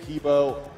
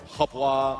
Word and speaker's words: Hebo: I don't think Hebo Habwa, of course, as his name is actually pronounced.